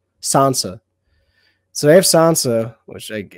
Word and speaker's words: Sansa: a as what say it again no don't spell it just say sansa so they have sansa which like is like